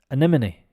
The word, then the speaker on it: anemone: or who works for flowers em no sorry a n e m o n e anemone anemone so um this start uh here the a is actually pronounced like an ER like uh anime and